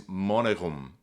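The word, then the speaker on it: monegum: And then thratum is how this word is pronounced. Thorn, R, E-A-T-U-M. Now here we get a really interesting feature. This word is monerum.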